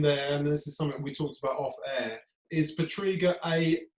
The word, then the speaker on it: Pietryga: yeah is it wrong I remember getting the tape and going said well my dad says it I'm kind of pronouncing a little bit wrong Sam never really been